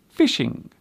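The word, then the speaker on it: phishing: This word is indeed pronounced as fishing, but as you can see, it is spelled with a ph at the beginning. This particular fishing means to attempt to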